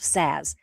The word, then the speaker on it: Szasz: looked it up, and it is spelled like jazz but with an S of Szasz.